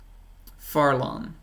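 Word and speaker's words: Fharlanghn: I know how to pronounce this, but I always get it wrong. Farlon.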